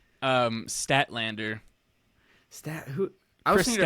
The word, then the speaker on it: Statlander: Steph DeLander. Oh, That would be cool. that would be cool. What did I say? Statlander.